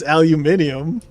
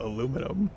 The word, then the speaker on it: aluminium: It's aluminium and for some reason America decided to call it aluminum.